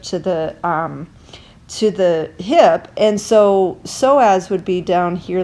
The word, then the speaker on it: psoas: In other countries and other languages, they pronounce psoas psoas. They pronounce the S. In the U.S., we tend to just call it the psoas.